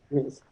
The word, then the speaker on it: Rees: Is that how you pronounce it? Rees? Yes. Mm-hmm. Rees.